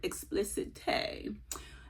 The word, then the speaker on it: Explicite: My essay told me how to pronounce that. She said Explicite.